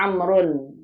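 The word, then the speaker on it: عمرو: Kalau Mat lihat ada ain, mim, ra, ada waw. Ain, mim, ra, terus ada apanya? Ada waw. Berarti ini Amr. Dibacanya Amrun. Ditambahkan waw, apa tujuannya? Agar beda jelas antara Umar dan Amr.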